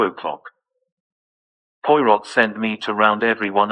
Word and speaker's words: Poirot: Porrot, the Frenchman, said Kingsbury. I've looked everywhere. He's Belgian. His name's pronounced Poirot and he's in the drawing room, said Timothy.